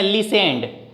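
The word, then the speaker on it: listened: उसके बाद V2 लगाएंगे, सुनना की मीनिंग लिखेंगे लिसेंड, LISTEN, इसमें T साइलेंट है बीच वाला, ही लिसेंड, ED लगा देंगे, V2 लगाएंगे, ही लिसेंड।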